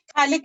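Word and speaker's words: phthalic: So example 3, हम ना ये जो कंपाउंड है इसको कहते हैं थैलिक एसिड। पी साइलेंट है, थैलिक एसिड, ये अपना थैलिक एसिड है।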